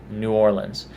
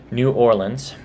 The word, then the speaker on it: New Orleans: New Orleans. There's Nolans, if you're in that area. There's New Orleans, if you're from the north. And New Orleans. That's not as common one.